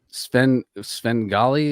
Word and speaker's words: Sven Gali: And I've listened to Sven Gali.